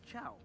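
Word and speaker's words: Chou: Mobazane apparently pronounces it as Chow.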